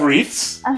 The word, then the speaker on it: wreath: - You have wreaths? By the way, that's a very hard word for Brazilians to pronounce, I think. Because that's a silent "w".